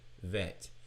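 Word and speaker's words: ב: So, now the letter bait without the dagesh or the dot in the center goes from a B sound to a V sound and we pronounce it vet.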